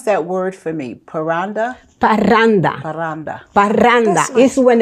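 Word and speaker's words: parranda: just before I get to Brenda let me pronounce that word for me paranda paranda paranda paranda is when a group of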